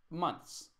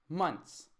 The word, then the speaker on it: months: write it here how let me give you a trick on how to pronounce it months months and kind of like putting like a half of a T so we said I